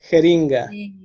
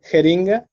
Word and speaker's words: jeringa: Jeringa. Jeringa. Jeringa. Once again, jeringa. Jeringa. And now make the first letter a little softer, like a cat hissing and making.